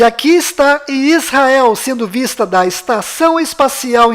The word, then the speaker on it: Israel: Então a pronúncia correta desta palavra é I, S, Ra, El. Aqui está localizado Israel no mapa. E aqui está Israel sendo vista da Estação Espacial Internacional.